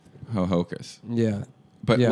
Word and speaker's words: Hohokus: uh connecticut's native american hohokus yeah ho hoku ho hokus is that oh yeah cause a lot of the akkas secaucus yeah but it's spelled h-o-h-o-k-u-s that's really dumb yeah ho hocus ho hocus yeah but yeah it's